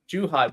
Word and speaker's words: Zhuhai: How do you pronounce it, Thomas? Zhuhai? Zhuhai? Zhuhai, which is just means the pearl, where the Pearl River meets the sea.